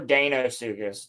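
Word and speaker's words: Deinosuchus: How do you pronounce it? Dino or Dino? Because it's the E before I, so I always say Dinosuchus. Yeah, no, you're right. It would be Dinosuchus. Or Danosuchus, technically.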